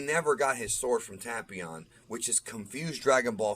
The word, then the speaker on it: Tapion: and we do see tapion and yes it's pronounced tapion not tapion uh the dub is wrong it's tapion it's a tapioca pudding reference but we see him